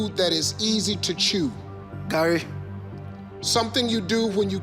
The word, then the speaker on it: gari: You said Gari. How you pronounce it?